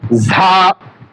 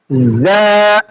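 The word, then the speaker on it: ز: এখানে দেখেন যা হরফের সময় অনেকে উচ্চারণ করে থাকে অনেকে আবার উচ্চারণ করে থাকেন ঝা। আসলে ঝা আর রা এরকম কোন শব্দ জ্যাক নয়। তাহলে আমাদের উচ্চারণ করতে হবে যা, মৃদ শক্ত এবং মৃদ নরম।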